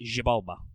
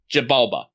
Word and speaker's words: Xibalba: Zabala? I believe it is pronounced Xibalba. Xibalba.